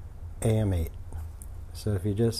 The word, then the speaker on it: AM8: so this is a weird word some people pronounce it right it's am8 so if you just say am and8 am8